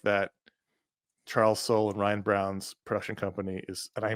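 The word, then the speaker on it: Browne: slide but their their production company is called Silent E Productions because both their names end in silent E and so I apologize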